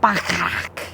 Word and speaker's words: Bacharach: We're lounging here in Bacharach, as the train pronounces it, Bacharach.